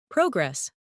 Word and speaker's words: progress: Progress, noun, versus progress, verb.